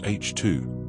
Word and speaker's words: HII: Throughout the Milky Way, there are regions called HII regions, pronounced H2, which are vast clouds of ionized hydrogen gas glowing with the energy of hot, young stars embedded within them.